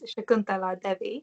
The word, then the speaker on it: Shakuntala Devi: So going on, another project that you've worked on as well is, I'm going to make sure I pronounce this right, is Shakuntala Devi.